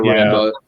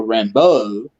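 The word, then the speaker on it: Rambeau: marvel you know monica rainbow uh which i always you know back when i just read in the comics always pronounced as uh monica rambo to separate her from john rambo because when you just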